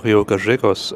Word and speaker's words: Río Gallegos: First stop is going to be in Rio Gayos or Rio Gajos as they pronounce it here in Argentina I think.